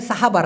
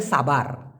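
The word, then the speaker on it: sabar: একদম ক্লিয়ারটা দিয়ে দিচ্ছি এখানে মূলত এখানে সাহাবার না এটা হবে সাবার সাবার কি হবে সাবার স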